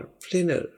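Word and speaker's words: planner: pronounce एशन क्या है देखिए पी एल ए जैसे होता है खेलना उसको हम प्ले कहते हैं इसी तरह आपने इसकी अदायगी में भी प्ले बोलना है और फिर एनर से नर ई की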